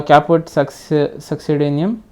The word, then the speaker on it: caput succedaneum: Yes, so caput succedaneum, yes, that's how we pronounce it, refers to the swelling of the fetal scalp due to fluid accumulation above periosteum.